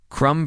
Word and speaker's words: crumb: Crumb versus crumble is a clear example, where the silent B in the root form becomes voiced in the derivative, maintaining the link across forms.